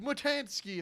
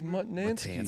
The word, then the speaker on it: Mutnansky: Mike Mutansky, if I pronounce that. What? right. No, no. What? How do you say it? No, Mike Mutansky. What is it now? It's Mutnansky.